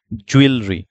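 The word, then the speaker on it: jewellery: এখন কারেক্ট করতে চাই তাহলে কারেক্টটা কি দেখেন জুয়েলরি জুয়েলরি কারেক্ট প্রোনাউন্সিয়েশনটা হচ্ছে জুয়েলারি তাহলে ইন সাম কালচারস গোল্ড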